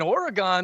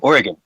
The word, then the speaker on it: Oregon: Uh if you ask any local in Oregon, they'll say it's pronounced like oregano.